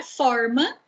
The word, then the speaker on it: forma: A palavra forma já tem um sentido diferente, né, com a pronúncia aberta.